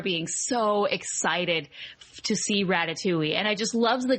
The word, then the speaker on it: Ratatouille: so I remember being so excited to see Ratatouille and I just loves the concept and I